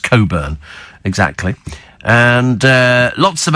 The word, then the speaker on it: Cockburn: as an R uh we had a neighbor who was called Coburn but pronounced it as in the P well yes it's it's cockburn but it's pronounced Coburn exactly and uh lots